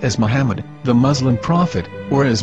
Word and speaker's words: Muhammad: According to Ben Yehuda's Hebrew English Dictionary, it is correctly pronounced as Muhammad, not Mamad. So how we're going to know for sure if it's pronounced as Muhammad, the Muslim prophet, or as Mamad, a random Hebrew word?